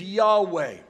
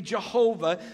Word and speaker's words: Yahweh: I am it is Yahweh a mispronunciation of it would be Jehovah so don't be thrown